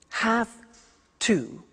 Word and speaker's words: have to: pronunciation I have to notice I don't say V I say s have half it becomes half to have the two becomes in pronunciation have to have to ok so